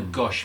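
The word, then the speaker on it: gâche: And Guernsey gosh is spelled Guernsey gash, Gash. but they don't like to use that word. Yeah. No. So they call it a gosh.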